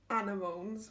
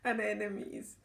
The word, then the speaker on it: anemones: Got some snowdrops and some anemones. Now, I thought they were anemones, but my mum informs me they're pronounced anemones.